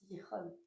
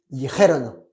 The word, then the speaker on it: dijeron: La prononciation du verbe. Oui. Dire, diriste, dijo, dirimos, diristeis, dijon. Dijeron.